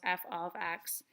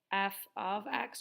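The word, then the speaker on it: f(x): parentheses accident literally pronounced f of X so put a little note there for yourself that says that it's read as f of X just because that's going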